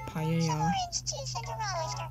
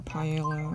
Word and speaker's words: paella: like a bowl of paella or paella or whatever i keep going for the french or spanish pronunciation with two l's together make a sound kinda like the y which is my name